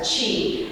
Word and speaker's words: Qi: sound like chi, like cheese, but take the S and E off that. So, chi and then the word gong.